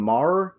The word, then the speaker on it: Maher: Maher.